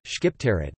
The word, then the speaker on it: Shqiptarët: The Albanians Albanian, Shqiptarët, pronounced Sipta, T, are an ethnic group native to the Balkan Peninsula sharing a common Albanian ancestry, culture, history and language.